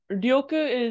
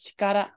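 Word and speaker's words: 力: what was it real uh ryoku is normally how it's pronounced when it's married in general when this is pronounced as dyoku it's going to be in the second position in the kanji so right now it's in the first position so it's actually being pronounced as Chikara shut up and then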